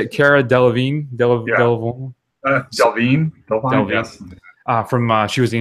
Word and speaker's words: Delevingne: Delvine, yes.